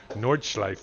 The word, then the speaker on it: Nordschleife: I pronounce the name of a track exactly right, Nordschleife, and I get in trouble with all the